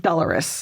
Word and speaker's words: Dolours: Dolours.